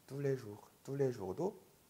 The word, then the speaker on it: tous les jours: tous les jours도 tout가 우가 되는 발음인 이유가 오유이기 때문이에요. 네, 오유는 우. tous les jours.